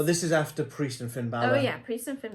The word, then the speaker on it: Balor: of the match days Finn Balor I think he called him he called him Finn Balor yeah because it's spelled b-a-l-o-r there is no way you could get that wrong but you did see come